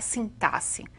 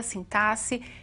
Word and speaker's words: sintaxe: Uma dessas partes é a sintaxe. Hoje eu vou me preocupar em ver com vocês uma parte da sintaxe, e é assim mesmo que se pronuncia, sintaxe e não sintaxe, como alguns querem, não é?